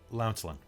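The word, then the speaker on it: Lancelyn: is l-a-n-c so uh lance lin l-y-n following the word lance a few minutes pass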